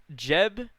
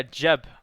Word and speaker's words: Geb: Jeb. I call it Jeb. I've called it Jeb forever, but is it Geb because it's spelled G-E-B? But is it Geb or Jeb?